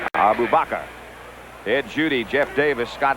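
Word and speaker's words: Arbubakrr: booker reese and hassan abba abbakar dave logan in the middle that's still not the way to pronounce that name by the way abu bakr ed judy jeff davis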